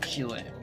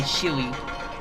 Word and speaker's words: Chile: I know some people say Chile, but I don't like how that sounds. So I'm just gonna call it Chile, which is closer to how we pronounce it, but not quite like we pronounce it. Slightly different, like you say Chile instead of Chile, you know.